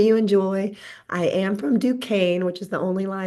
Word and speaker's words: Duquesne: I am from Dukane, which is the only lie that Jeff told you. You pronounce it Dukane formally.